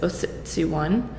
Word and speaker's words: Ociciwan: I pronounce it is Oh 61 and you'll always hear varying degrees of that pronounced pronunciation but it's a Cree word and it means the